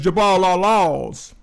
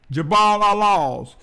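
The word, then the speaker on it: Jabal al-Lawz: Moses received the Ten Commandments, currently labeled as Jabal al-Laws. And let me spell it in case you want to research it. It's Jabalallawz, Jabal al-Laws.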